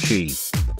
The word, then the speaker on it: Qi: All three new handsets for 2017 get a major feature that Apple's been lagging on for years: Qi wireless charging, pronounced Qi.